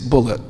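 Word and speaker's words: Bulliet: He spells his name B U L L I E T and he pronounced it Bullet. He corrected me. He said, "No, my name's not Bouier. It's Bullet."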